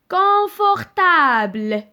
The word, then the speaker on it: confortable: Par exemple, سمعوا مزيان la prononciation. Confortable.